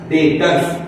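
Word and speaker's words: debtors: भाषा में बोलते हैं डेटर्स क्या बोलते हैं तो सर बी क्यों लिख रहे बी साइलेंट है बेटा तो हम लोग एक और सीखे बो क्या सीखे डेटर्स डेटर्स मतलब क्या होता है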